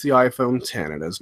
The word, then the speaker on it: iPhone X: it has pronounced the iPhone 10 and has not pronounced the iPhone X everybody putted the eggs Apple calls it the iPhone 10 so that is most certainly the official name of it it's the 10th anniversary